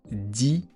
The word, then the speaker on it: dix: Et dans 10, il y a un x qu'on va prononcer ce dis.